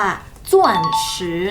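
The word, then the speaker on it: 钻石: กัน ใกล้ เคียง กับ จริง ๆ คำ นี้ มัน ออก เสียง ว่า ส่วน ซื้อ นะ คะ ส่วน ช่วย แปล ว่า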